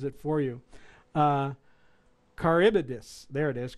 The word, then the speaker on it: Charybdis: and put it in there, and it actually pronounces it for you. Charybdis, there it is, Charybdis.